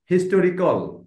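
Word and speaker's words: historical: আসলে হিস্টোরিয়ান আর হিস্ট্রিয়ান মানে ইতিহাসবিদ আরেকটা হচ্ছে হিস্টরিকাল তাইলে হিস্টরিকাল যখন তখন টরিকল আসবে ও উচ্চারণটা হবে আর যখন হিস্ট্রিয়ান মানে এটা হলো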